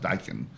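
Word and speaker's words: Daikin: The name is D A Keen N. He says it's pronounced Dykan.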